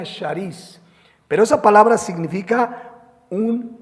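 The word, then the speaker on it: χάρις: La palabra griegais o se pronuncia sharíis, pero esa palabra significa un regalo que no merezco.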